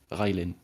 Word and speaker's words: Railen: If that can be of some use in French, that's the way we would pronounce it. Railen. That's that's literally the way it's pronounced in French. So in English they can't pronounce, but we can. Because the A is Ray A sound in English.